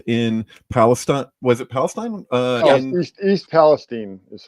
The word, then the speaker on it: East Palestine: East Palestine is how it's pronounced.